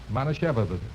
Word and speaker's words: Manischewitz: Now, let's break it up into syllables and work on it. Okay. Now, look. Repeat after me. Mana Mana Shevitz. Shevitz. Mana Shevitz. Manischewitz.